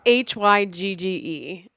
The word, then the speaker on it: Hygge: Yeah, it's Hygge, which does not look like you would pronounce it Hygge, but according to the internet, it's pronounced Hygge.